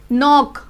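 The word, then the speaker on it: knock: जैसे कि नाइफ, अब प्रोनाउंस नाइफ ये वाला वर्ड हो रहा है क्योंकि ये नहीं हो रहा, के साइलेंट हो जाएगा। ऐसे नी, नॉक, ये हमारे हो गए रूल्स।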